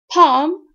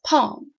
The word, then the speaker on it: palm: know that the other silent in this world palm palm never say pal or pal it's palm a confusing word is salmon salmon salmon is